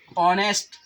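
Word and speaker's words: honest: यच क्या है, अंग्रेजी का व्यंजन है, लेकिन इसका जो उच्चारण होता है, जो प्रोनाउंसिएशन होता है, ऑनेस्ट पढ़ते हैं, है ना।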